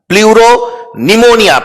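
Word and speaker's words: pleuropneumonia: बेटा प्लूरोनिमोनिया, P silent होता है, प्लूरोनिमोनिया लाइक ऑर्गेनिज्म।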